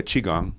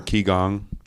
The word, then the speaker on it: qigong: tai chi and yeah qigong or kigong yeah because sometimes they pronounce koreans say chinese say right even though it's spelled the same way q i q that